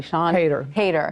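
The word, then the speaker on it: Siân Heder: I want to make sure I'm pronouncing her name correctly. Sean Hayter.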